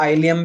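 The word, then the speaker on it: ileum: या इसको कई जगह आइलियम भी बोल देते हैं, प्रोनाउंसिएशन में क्या बोल देते हैं, आइलियम। तो कंफ्यूज मत हो ना, इलियम आइलियम एक ही बात है।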